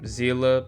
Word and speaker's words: Seele: Also, I'm still seeing people confused about how to pronounce Seele's name, so let me just...